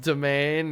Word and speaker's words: demesne: I still can't believe Demesne is pronounced domain.